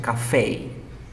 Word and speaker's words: café: In this case, cuando nosotros nos referimos al lugar, esta palabra se pronuncia café.